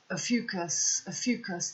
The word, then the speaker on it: Ophiuchus: As we look at how did Ophiuchus, that's how you pronounce it, Ophiuchus become the 13th sign.